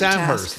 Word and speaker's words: Amherst: Well, the textures are taking It is Amherst. It is not Ammerst. It is not Ammerst. Is it Ammerst? It's Ammerst. Ammerst. Well, okay. Did you call it Amherst?